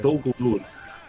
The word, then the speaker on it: Dol Guldur: By the way, did you pronounce that just perfectly again? Very nice. Well, love the art. Thank you. Dol Guldur.